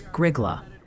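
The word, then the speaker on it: Grygla: Oh, and the pronunciation patrol respectfully submits that it's Griggla for that spot in Minnesota you mentioned earlier. Griggla.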